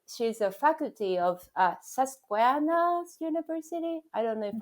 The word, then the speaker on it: Susquehanna: her she uh she's a faculty of uh sasquaanas university i don't know if i pronounce it correctly my guess is susquehanna yes it's very hard for me to pronounce